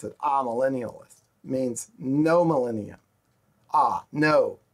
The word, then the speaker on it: amillennialist: spelled with an A a Millennials but they pronounce it aa millennialist means no millennium ah no millennium no thousand